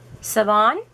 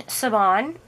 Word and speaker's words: Siobhan: the store is cover minders the owner is siobhan and i've talked with her on the phone